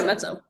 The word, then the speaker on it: Mezzo: I'm not sure how to say it, Yeah, Mezzo.